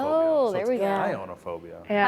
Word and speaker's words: chionophobia: It says Kyonophobia. Chionophobia. Oh, there we go. Chionophobia.